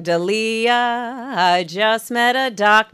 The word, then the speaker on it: D'Elia: I'm ready okay so in order to pronounce my last name correctly you can simply sing deah I just met a